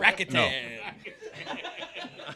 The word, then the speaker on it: Rakuten: Rakuten. I like Rakuten better. You know, you gotta have that third syllable.